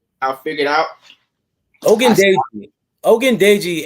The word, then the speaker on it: Ogundeji: Ogundeji. Everybody can say Ogundeji. Come on, say with me at home. Ogundeji. Yeah, but beat that G, that gun, like Ogundeji.